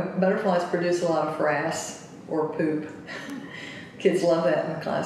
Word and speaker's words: frass: And we call it frass butterflies. Spell FRASS. Like rhymes with grass.